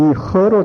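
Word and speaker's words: 喝: 그런데 요즘 중국 발음으로는 어떻게 됐느냐 하고 물어보니까 이 허로 돼 있다고 그래. 허. 그러니까 그 우리 한글로 쓰는 허하고는 좀 다르겠죠. 허 뭐 이렇게.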